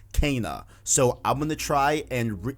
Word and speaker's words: Kena: atreyus atreus back home videos but uh apparently canon is not how you pronounce it it is pronounced cana so i'm gonna try and guys guys call